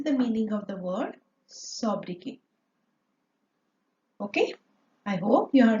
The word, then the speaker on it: sobriquet: So, this is the meaning of the word sobriquet. Okay, I hope you have understood the meaning of the word sobriquet. So, T letter is silent here.